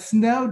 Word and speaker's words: Sneaux: So here at Loyola, New Orleans, we do a day, it's called Snow Day, and it's spelled SNEAUX, and I had to write that down because I didn't want to mess that up. But Snow Day is its occasion, our take on this Caucasian spelling.